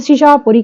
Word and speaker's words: शहाबपुर: थे लागे पिंड शहाबपुर पिंड का नाम शहाबपुर पर बोलन शहापुर कहने बबा ज साइलेंट करने